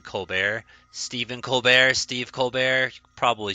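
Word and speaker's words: Stephen Colbert: rather than just it's it's spelled Colbert but he chooses to pronounce it colar Steven coar Steve colar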